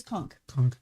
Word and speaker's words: conch: It's conch. Conch. Yeah. Sound this conch anywhere in his Spelled realm, conch, but and yes.